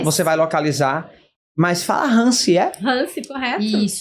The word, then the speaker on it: Ransi: Mas fala Hansi, Hansi, correto. Isso. Pronuncia Hansi, maravilha.